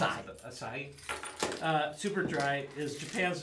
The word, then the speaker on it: Asahi: How do you actually pronounce Asahi. it? Asahi.